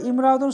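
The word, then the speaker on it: امرأة: তো বিষয় হলো ইমরাআতুন শব্দটা যদি সিঙ্গেল থাকে তখন ইমরাআতুন পড়ব, কিন্তু এই শব্দের আগে যদি অন্য কোনো শব্দ চলে আসে তাহলে এই আলিফের উচ্চারণটা হবে না।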